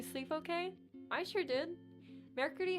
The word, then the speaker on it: mercredi: Oh my god, I just realized I've been pronouncing Mercredi wrong this entire time. Yeah, if you're gonna go full French, you go mercredi, but, I'm not going to do that all the time, so I just say mercredi.